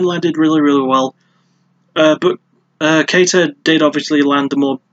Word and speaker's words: Kattar: Sorry, Kattar. He has a very difficult to pronounce surname. It's K-A-T-T-A-R. So you'd automatically think, oh, it's Takar. Oh, sorry, Kattar. And then it's like, no, it's Kattar or Kattar.